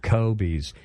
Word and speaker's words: COBYS: By the way, COBYS is spelled COBYS as opposed to, like Kobe Bryant or something like that. K-O-B-E. Right, COBYS, COBYS.